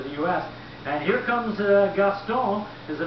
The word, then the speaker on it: Gaston: US and here comes gastone is the name of it it's a French name and that's the French pronunciation on it and then there's the